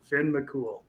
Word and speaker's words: Finn McCool: Finn McCool, that's it. Thank you. Thank you for that. That's obviously been bugging me. Finn McCool.